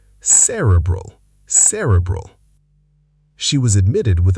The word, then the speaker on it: cerebral: Cerebral. Correct. Cerebral. Stress on the first syllable. Cerebral.